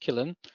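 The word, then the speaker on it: Qilin: It's spelled Quillin, but as far as I know, it's pronounced Killin.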